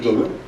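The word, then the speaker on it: Doklam: The Bhutanese pronunciation is Dolan.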